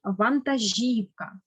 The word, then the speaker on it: вантажівка: дуже болить спина наступне вантажівка наголос на і на передостанній склад і останнє слово було